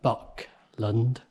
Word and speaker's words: Buckland: to a place called buckland and yes i did pronounce that right buck lond there are two churches